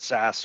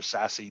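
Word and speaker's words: SASE: the horizon is around sas or sassy depending on how you want to pronounce it that's a secure access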